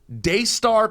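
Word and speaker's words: Daystar: true go ahead his name is don't don't mispronounce it I'm not I'm looking again CU it's so good dayar Peterson your name's dayar yes sir that's your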